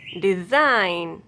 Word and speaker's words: design: If a word ends in GN, then letter G will be silent. Align, assign, design, sign, design, consign, campaign, ran, foreign.